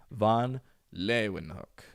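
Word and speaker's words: Leeuwenhoek: Science and Technology how do you go about pronouncing his name anony f Leen hook an an like Anthony but an van lein hook Leen hook Leen hook Leen hook Anan Anan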